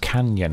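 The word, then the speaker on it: cañon: them was the Eagle Cannon, in which the horses were awaiting them. I guess it's pronounced canyon, because it's got the little N squiggling accent, hasn't it?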